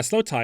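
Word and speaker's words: slowthai: Slow Thai being spelled like the word slow and the word Thai as in Thai food, but put together, no spaces. Yeah, slow tie. Uh, Slow Tai is a great musician, too.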